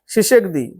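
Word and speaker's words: Tshisekedi: নম্বর দুই নম্বর ফেলিক্স শিষেকদিন কোন দেশের রাষ্ট্রপতি হিসেবে নির্বাচিত হলেন উচ্চারণটা একটু ওরকমই হবে টি উজ্জ্ব থাকবে যেরকম সুনামি সেরকম সেই টাইপের এটা উত্তর হচ্ছে কঙ্গো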